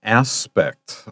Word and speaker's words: aspect: p e c t be careful the accent is on the first syllable not the second lots of my students